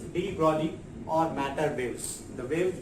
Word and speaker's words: de Broglie: G silent है यहाँ पे, so we can pronounce this de Broglie or matter waves.